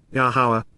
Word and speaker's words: Yahowah: what is required to recognize, Peel perfect, Yahowah, Yahowah, the proper pronunciation of Yahowah, our Eloah, God has directed